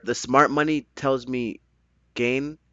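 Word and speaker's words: Gane: Man, my heart, the smart money tells me Gain or Gain. How do you say his name? Gone. Gone.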